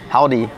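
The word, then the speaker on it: haldi: like the holy Fest h a l d i howdi like howdi with h yes so that's how you say turmeric in India so I was like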